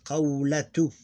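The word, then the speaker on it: قولة: qawlatu, you pronounce this T like this, like qawlatu, like this one.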